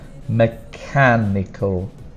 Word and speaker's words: mechanical: vowel in the thing for pronunciation the stronger sound is on the can here mechanical force mechanical force presence